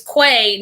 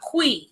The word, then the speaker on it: Quay: saying she was saying it's quay not qui it's the the brand